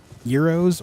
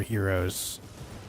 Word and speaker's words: gyros: mad I'm traditional Euros or as you guys say it Gyros no no one no one in the right mind here in the US pronounces it like that at least not where I lived and grew up no uh people where I grew up either pronounce it uh euroes or Heroes that's the worst of